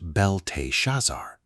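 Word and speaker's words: Belteshazzar: Beltazar, pronounced Belt Shazar, likely invokes Bell, pronounced Bell, the Babylonian god, also known as Marduk, pronounced Marduk.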